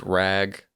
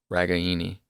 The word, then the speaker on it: Ragaini: So the correct way to pronounce it is Ragaini. Mm-hmm. So Ragaini.